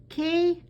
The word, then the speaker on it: qué: And then we ask our final question, ¿qué haces? Now remember again that Q-U-E sounds like the letter K in English, and haces, that H is silent.